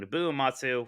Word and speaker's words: Nobuo Uematsu: Nobuo Uematsu, who's did the original first 10, really is great.